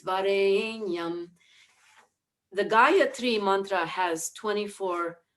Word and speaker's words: Varenyam: going, Tat Savitur Varenyam, Varenyam, Varenyam, but it's Varenyam. The Gāyatrī Mantra has 24 syllables in it.